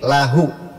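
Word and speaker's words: الله: Harokat sebelum Allah itu fathah atau dhammah, maka dibaca lo, lahu. Tapi kalau sebelumnya harokat kasroh dibaca la, balil lahu.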